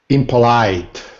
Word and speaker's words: impolite: wait wait wait wait look at the Big Dot above the third syllable see it the Big Dot yeah so the the stress is on the third syllable right say it again Rafael impolite better much better impolite